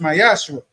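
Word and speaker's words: מעשר: verses 8 through 10, means 10% in Hebrew is pronounced Mayashar.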